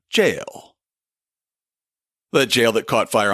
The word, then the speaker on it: gaol: it should be pronounced gal in fact in an old episode that's exactly how I pronounced it before I figured out that that's just the old spelling of our word jail that jail that caught